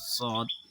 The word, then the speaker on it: ص: সঠিক উচ্চারণ হবে না, আওয়াজটা হবে একটু মোটা।